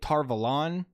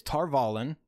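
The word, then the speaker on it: Tar Valon: Like, they're calling it Tarvalon. It's Tarvalon.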